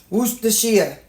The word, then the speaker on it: Worcestershire: I've had some of my people from across the ocean tell me that that's how you pronounce it. Worcestershire.